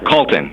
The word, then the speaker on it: Calton: And Calton, right? Did I get that right? Yeah, Calton.